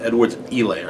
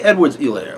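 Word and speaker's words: Edwards-Helaire: his name is pronounced edward's e-layer h is silent so if that's the way his name is pronounced then just say his name that way say edward's e-layer like i i hear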